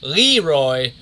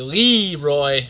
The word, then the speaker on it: LeRoy: that leroy's name was leroy butler so for one of those games madden was really pronouncing the lee roy butler instead of the leroy that his mother emailed